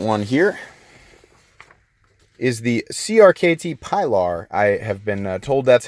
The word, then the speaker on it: Pilar: The second one here is the CRKT Pilar. I have been told that's how you pronounce that.